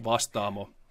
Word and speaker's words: Vastaamo: It's pronounced Vastaamo.